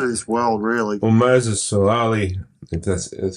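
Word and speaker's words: Moses Suli: Well, Moses Sulali, that's how you pronounce it? Sulali, so same thing.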